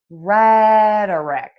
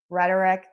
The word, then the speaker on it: rhetoric: Think about saying red r the color uh the schwah and then rick rhetoric. Rerk rhetoric rhetoric rhetoric.